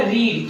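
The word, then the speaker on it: read: क्या बोलते हैं, रीड, और इसको बोलते हैं रेड, और थर्ड फॉर्म भी रेड। तो यहाँ पे थर्ड फॉर्म रेड ले लेंगे, इसे बोलेंगे रीड रेड, रेड spelling same है लेकिन प्रोनाउंसिएशन अलग अलग है।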